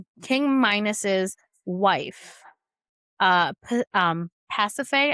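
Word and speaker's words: Pasiphaë: He caused King Minus's wife uh um Pacafe, I believe is how you pronounce her name, um to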